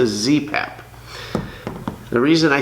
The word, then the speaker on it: ZPAP: this is a zastava npap i'm sorry oh is it an mpap no it's a zpap the reason i say